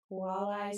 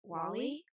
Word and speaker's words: walleye: Walleye Surprise. Is that how it's pronounced? Walleye? Wally?